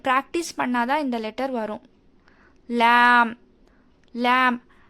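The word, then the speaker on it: ل: லேமோட மஹ்ரஜ் என்னன்னா, நம்மளோட அப்பர் டீத் இருக்கு இல்லையா, 8 டீத்தோட ரூட்டில் வந்து டங்கோட சைட் போர்ஷன்லேருந்து இந்த சைட் வரைக்குமே டச் ஆகி நம்ம ஓதணும். இதை வந்து நாம் தின் லெட்டர்னு சொல்லுவோம். ஸ்மைல் பண்ணுற மாதிரி ஓதணும். அப்பர் டீத்தோட 8 டீத்தோட ரூட்டில் வந்து டச் ஆகி ஓதணும்.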